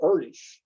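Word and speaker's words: Erdős: a guy named paul erdesh he was hungarian so that's why his name is pronounced a little differently you might expect in the very next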